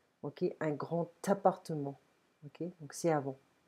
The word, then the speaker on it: grand appartement: Ok, un grand appartement. Ok, donc c'est avant. On écrit ça avec un D, mais ça se prononce T.